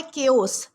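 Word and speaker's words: chaos: दोस्तों इसके बाद हमारा अगला वर्ड आता है केओस। दोस्तों केओसी से प्रोनाउंस किया जाता है जिसका मतलब होता है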